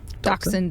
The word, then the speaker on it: dachshund: it Dasha dog yeah I would say dachshund but a dachshund dachshund is how you pronounce that word technically on a technicality yeah